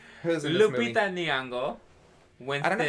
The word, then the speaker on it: Nyong'o: It's so tricky because I was saying Youngo for your last name. It could be Nyong'o as well. Were they pronouncing it right? Nyong'o. Yes.